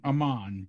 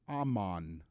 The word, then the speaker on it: Amman: cheesier and cheesier jordan amman yes everybody's heard of amman jordan yes it's just one of those things it's spelt a-m-m-a-n the two m's in there yes a-m-m like am on okay and amman jordan